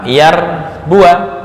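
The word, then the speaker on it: يربوا: Lan Yar Bua Lan Yar Bua nah ini ditambah dengan Alif fungsi Alif di sini Walaupun ada Alif tapi tetap dibaca pendek ketika waqafah ketika was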